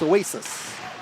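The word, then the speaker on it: Oasiz: o theme Oasis is spelled o-a-s-i-z but pronounced Oasis one-nothing Detroit Blue Jackets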